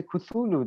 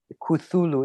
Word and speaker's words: Cthulhu: great one yeah the great one was the cthulhu the one in uh hp lover crafts books i don't know the big big bad like they're a bunch of things you can what did you just say cthulhu it's it's spelled really ct uh h it's